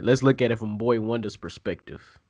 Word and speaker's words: Boi-1da: pronounce this man's name is a Boy Wonder boi-1da like does anyone know how to say his name is Boy Wonder Boy Wonder Boy Wonder okay that makes sense yeah like like Boy